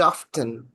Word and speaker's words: often: So I told you that B cannot be seen with its own appearance very often. What is the pronunciation of the word OFTEN?